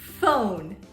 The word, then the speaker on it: phone: was psyched to psychoanalyze sometimes the P sounds like an F when the P comes before an H the pronunciation is is f for example phone phone or dolphin dolphin